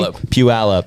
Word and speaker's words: Puyallup: Puyallup. Yeah, go look up that city online and try to pronounce it.